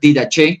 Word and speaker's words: Didajé: Y la palabra did viene del griego, algunos lo pronuncian didach, ¿cierto?